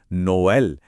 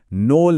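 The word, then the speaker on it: Noël: इसका सबसे बेस्ट उदाहरण है नोएल। इन दो डॉट्स की वजह से हम इसे नो एल पढ़ते हैं। नोल नहीं।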